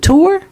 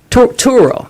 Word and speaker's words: Turo: Is it tour? Turo? Turo. There we go.